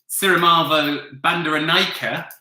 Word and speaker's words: Sirimavo Bandaranaike: And 10, Sirimavo Bandaranaike. I checked the pronunciation of that earlier.